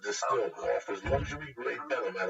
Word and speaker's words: DSTLD: DSTLD, pronounced distilled, offers luxury grade denim at affordable price jeans that would normally cost you hundreds, dog.